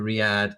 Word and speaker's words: Riyadh: the trip to Riyadh I did have to look up the pronunciation of that um to re-add inside Arabia the rest of